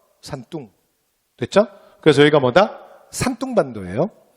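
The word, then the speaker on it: 山东: 근데 중국 애들이 그 동력동을 발음할 때 우리가 들으면 약간 뚱으로 들려요. 그래서 산뚱.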